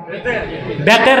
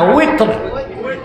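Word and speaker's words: وتر: তারপরে আবার তিন রাকাত বেতের না উইথর এই উচ্চারণগুলো শুদ্ধ করতে হবে আমাদের দেশে মৌলভী সাবরা বলে বেতের বেতের না উইথ সালাতুল উইথর বুঝলেন তো কয় রাকাত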